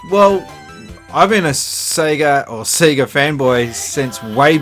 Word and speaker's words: Sega: that out of way I say Sega because that's how we were pronouncing it here in this country and in New Zealand Sonic the Hedgehog on